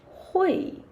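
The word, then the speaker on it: 会: Hui. Yeah, you can see the pinyin and how to pronounce it. H u i hui. Hui. Yeah, falling tone.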